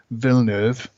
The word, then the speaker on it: Villeneuve: a remake, and then B, when it was Villeneuve. Is that the correct pronunciation?